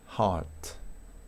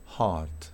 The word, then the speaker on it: heart: O la secuencia EAR, que también es inusual, va a ser heart, heart, ¿sí?